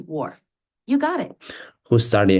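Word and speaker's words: Whorf: influences thought okay and Benjamin Lee wolf that's correct it's pronounced Benjamin Lee Warf you got it who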